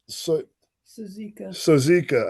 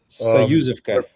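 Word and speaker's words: Soyuzivka: so we went to how do you say it? Sozika. I can never remember how to say it. Sayuzivka. So yeah, well, Sozuvika. Okay, well, anyway, No, we went there. Sayuzivka.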